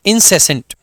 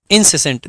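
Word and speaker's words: incessant: इज इंसेसेंट इंसेसेंट इंसेसेंट ध्यान देंगे यहां पे जो सी है इसका प्रोनंसिएशन स आएगा ना कि क जभी भी सी के बाद में ई आए आई आए या वाई आए ऐसे केस में सी का जो साउंड आता है वो स आता है इसलिए इसको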